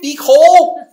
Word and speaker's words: Phicol: Phicol. How do you say it again? Phicol.